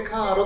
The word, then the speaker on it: caro: イタリア語なんですけど、CARO でカーロと読みます。カーロ。